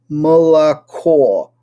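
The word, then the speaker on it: молоко: which has three O's, Moloko, it's molako. So none of those O's is pronounced the same.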